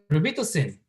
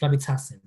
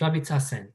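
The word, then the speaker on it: Robitussin: rosin when I was in the Philippines we rosin but when you were when I was here in the US the corre correct pronunciation is rabit tasin okay it's rabit tasen not rosin in the commercial you will say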